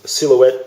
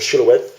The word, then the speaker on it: Silhouette: specifications i've got a music man silhouette or silhouette depending on your pronunciation um guitar and it